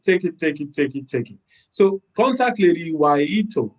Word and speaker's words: Wahito: it so contact lady why ito all right uh or why yeto if you are kenyan you know from west africa we call it guajito uh and i'm sure